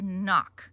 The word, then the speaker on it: nock: fletching, and that tip, which is called the knock. We spell it N-O-C-K. The K-N-O-K, that's what you do on the door. Knock, knock, knock. N-O-C-K, knock. This is called the fletching.